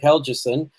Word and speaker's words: Helgeson: who pointed out that the way to pronounce his last name if I get this right is hell Chisum so that the G is as though it was a jade I don't remember whether that's a softie are hard to I think that's a soft one but any rate it's